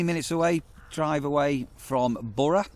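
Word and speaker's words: Burgh: Um so yeah, Bora good pubs. So it's pronounced B. So we said it when we first come Bur La Mar. It sounds a little bit French but it's actually pronounced Bora.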